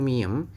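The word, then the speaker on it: 미음: huruf apa ini kotak ini huruf M gitu miem gitu ya kalau miem itu di taruh di Manap pun yo bunyinya tetap m seperti itu teman-teman ini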